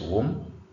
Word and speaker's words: womb: This is womb. Womb. B is not pronounced tomb.